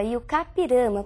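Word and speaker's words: I-Juca-Pirama: o conhecidíssimo texto e o kirama e a pronúncia é realmente essa e kirama porque é um termo de origem indígena Nós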